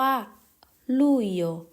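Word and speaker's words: Luglio: นั่น ก็ คือ กรกฎาคม เรา จะ พูด ว่า ลูโย ลู เดือน นี้ ร้อน มาก ๆ เลย นะ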